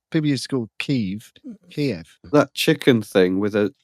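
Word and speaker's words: Kyiv: It's the same as the Kiev thing. They changed it to Kiev. People used to call it Kiev because that's how the Russians used to pronounce it. So they changed it back to Kiev.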